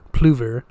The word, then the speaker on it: Plover: A confirmed bachelor, as the saying goes, he embraced Anglophilia, began pronouncing his name the English way, Plover, and set himself up as a country squire in a vast home crammed with staff.